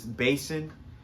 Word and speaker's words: BASN: It's Basin. It's from Amazon, BASN.